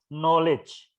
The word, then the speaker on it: knowledge: I also have the skills, abilities, and knowledge. Huruf K-nya nggak dibaca.